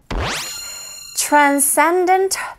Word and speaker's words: transcendent: 여러분 여기 발음하실 때 S 발음하시고 C 발음하시고 겹으로 생각하시면 되죠. 그래서 transcendent 하시면 됩니다. Transcendent power. 앞부분에 T 사운드와 R 사운드가 붙어 있죠. 이런 경우에는 트렌보다는 트렌에 가깝게 들리게 되니 여러분도 그렇게 따라하시면 되겠어요.